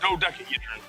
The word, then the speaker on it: dodecahedron: Yeah, no, it's Doda. Dodecahedron.